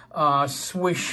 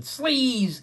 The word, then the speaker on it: Swish: Is it sleaze, slice, whatever? We didn't know. We found out that it was actually pronounced swish, as in Swish Bowie.